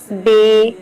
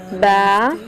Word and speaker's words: ب: مفردات 29 حرف ہیں۔ حروف مفردات کو تجوید اور قرأت کے مطابق عربی لہجے میں ادا کریں۔ اردو تلفظ سے پرہیز کریں، یعنی بے، تے، سے وغیرہ وغیرہ ہرگز نہ پڑھیں، بلکہ با، تا، ثا، حا، خو پڑھیں۔ ان 29 حرف میں